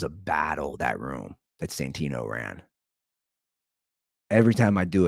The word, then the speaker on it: Santino: here's the thing you brought up uh Andrew Santino I don't know why you said his name wrong Andrew santor Andrew used to be one of my good